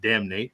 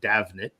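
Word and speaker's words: Damhnait: I know it looks like it should be pronounced Damn Nate, but it's Davnet.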